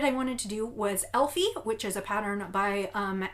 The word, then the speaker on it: Elfe: pattern by Astrid Schramm, or at least I'm pronouncing it Elfie. It's E-L-F-E, so it's probably Elfa, but I do not even begin to pronounce German correctly.